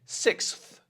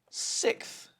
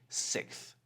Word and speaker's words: sixth: Let's say sixth, okay? So we're taking out that s sound in the X. We're just going to say sixth.